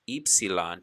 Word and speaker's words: Epsilon: for a sound and we have epsilon or pronounced eepsilon today in modern greek other letters get a